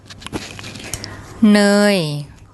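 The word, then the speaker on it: เนย: เ น ย เ น ย เ น ย And that word means butter in Thai.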